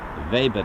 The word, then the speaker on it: Weber: vber no it it the brand is uh it's called Weber vber that's a pronounce vber well I'll take you